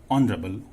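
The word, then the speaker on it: honourable: ऑनरेबल, ओ H silent है, ओ ऑनरेबल, तो यहां स्वर यानी वावल साउंड है तो एन आएगा, ही इज एन ऑनरेबल मैन, एन आएगा।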